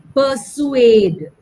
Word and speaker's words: persuade: And let the second part of it slightly prolonged.